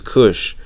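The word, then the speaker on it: Cush: top here we can see that the original pronunciation is Kush and then as we go down we see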